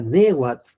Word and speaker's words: Nehuat: Tanto Tere como Arturo coinciden el que la primera oración será Nehuat, Ne y ahí la aspiración.